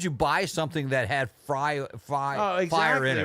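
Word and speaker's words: Fyre: Remember the Fry Festival? Yeah, oh yeah, the Fire Festival. Fire Festival. Yeah. It's spelled F-Y-R-E.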